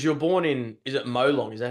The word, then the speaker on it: Molong: Yeah, because you're born in, is it Molong? Is that how you say it? Molong, yeah.